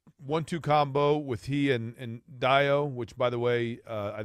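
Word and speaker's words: Dayo: But it's Dio and not Deo, as Correct. it's spelled.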